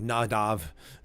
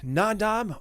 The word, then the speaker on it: Nadab: um conventional naming here I know it's like nadav you know in the Hebrew uh uh but for the sake of just the conventional uh English pronunciation uh I'm going to say n as opposed to n AB who uh but I might mix it as I go as well so nadab or nadav or naab as they some people